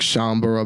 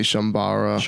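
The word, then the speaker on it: Chambara: yeah but uh i i know it's pronounced like shaumbra but i always say shambara my apologies but uh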